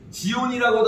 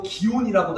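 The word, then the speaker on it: 祇園: 마칠이에요 여러분 발음이 비슷하죠 지온이라고도 하고 기온이라고도 하는데 귀여운 축제라는데이 기온 축제를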